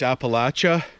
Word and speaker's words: Appalachia: the bark there the appalachia or i think as they pronounce it in the states appalachia i think we use uh the french pronunciation here in canada but these are the